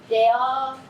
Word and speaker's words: dehors: As letras D, S, T, P no final de uma palavra em francês não são pronunciadas.